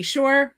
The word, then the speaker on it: Shore: you so deserve and my name is Shore rhymes with entrepreneur and I help business